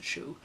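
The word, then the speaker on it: Shou: shoe because he's he he used to pronounce his name as a shoe so if I say show our show I doesn't really matter right so show have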